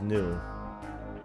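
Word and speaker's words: gnu: The word's pronounced new, actually.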